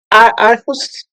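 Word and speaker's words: Aarhus: decisions as well what international act is It's arus act. I never know how to actually pronounce that but it's a r r h us u s.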